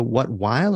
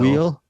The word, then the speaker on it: Weil: You mentioned Eric Holmes, Liza, Weil or Wheel? I don't know how you pronounce her name. Weil. Wheel. Yeah, Liza Wheel.